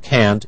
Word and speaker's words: can't: pronunciation of can and can't in the following i can meet you tomorrow i can't meet you tomorrow notice when it's negative it is stressed we hear can't but